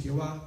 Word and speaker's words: Jehová: 4 letras que son 4 consonantes, Y, H, W, H, y no se puede pronunciar. Entonces, algunos le dicen Yahweh, otros le dicen Jehová, pero nos estamos refiriendo al Padre de la Gloria, a la misma persona.